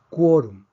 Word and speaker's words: quórum: Tenemos 2 sílabas, quórum. Vemos que no termina en N ni S, termina en una consonante. Por lo tanto, predecimos que la fuerza debería estar en la última sílaba. Sin embargo, está en la penúltima sílaba, entonces escribimos un acento de excepción.